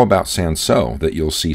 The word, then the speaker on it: Cinsaut: How about Cinsaut, that you'll see spelled with or without the L, though pronounced in the same way in either case?